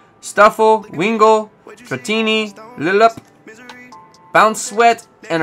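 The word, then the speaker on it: Stufful: trum break hip lima why is there two l's like you don't pronounce the first one stuffel wingo pattini bounce sweat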